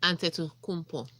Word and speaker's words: Antetokounmpo: Tega, first thing I want you to do is to teach me how to pronounce that name. Antetokounmpo.